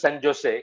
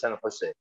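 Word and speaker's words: San José: ইন সান হোসে California, লেখে হইলো সান জোসে কিন্তু উচ্চারণ করে আসলে সান হোসে, স্প্যানিশ উচ্চারণটা এরকমই হয় কি, জের উচ্চারণ এরকম করে হয়।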